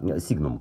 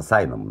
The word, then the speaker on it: Signum: п 560 друзья мои Да сигм латинское слово поэтому читается именно так англоязычные обзорщики называют это саном Ну сигм всё-таки правильно латинское слово p560 перо А здесь